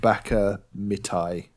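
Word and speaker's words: ばかみたい: But the song is I think it's pronounced Baka Mitai, and it's I don't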